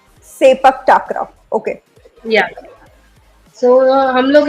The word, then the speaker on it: Sepak Takraw: so basically we called as Sepak Takra. Sepak Takraw.